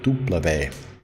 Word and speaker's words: Tupperware: That's how they say it in Finland. Tupperware. Because the W is a V, double V, tuplave.